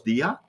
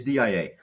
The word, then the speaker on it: DIA: we liked so there's many many people um here in europe who call us dia but yeah the right the right way to pronounce it is dia so what is it